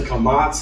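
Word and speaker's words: קמץ: We pronounced the kamatz, a little t under the letter, in the same way, ah as in father.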